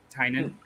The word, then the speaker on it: Tynan: Is it Tynan? You guys have we seem to have changed our pronunciation. We were corrected. Is that right? Oh, okay. So I'm just trying to make it stick. Tynan.